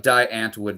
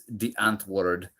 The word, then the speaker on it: Die Antwoord: It looks like Die Antwood, but it's Die Antwoord.